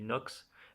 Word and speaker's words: Nox: Et en fait, on apprend que Pedro, c'est un ancien capitaine des pirates de Nox, je sais pas comment tu le prononces, moi je le dis Nox, N-O-X.